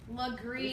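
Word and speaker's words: Legare: someone hadn't told me it's slippery Legree for the green yeah Liguori Street in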